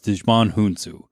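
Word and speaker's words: Djimon Hounsou: who i love is dejman hunsu and you're like wow what alien was he no that's actually how you pronounce this actor's name he played korath but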